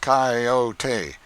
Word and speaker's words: coyote: If I remember rightly, this latter was the regular coyote, pronounced coyote of the farther deserts.